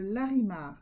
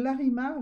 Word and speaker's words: larimar: Alors, on va prendre le larimar, d'accord? Larimar, L-A-R-I-M-A-R, ça se prononce.